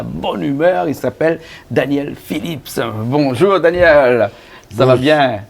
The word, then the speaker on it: Phillips: Phillips. Ah, Phillips. On prononce bien le S, Phillips.